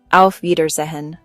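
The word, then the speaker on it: Auf Wiedersehen: Pronunciation gut knocked. on the phone. Al Verhin until we hear again. Review. Alfer Zahen.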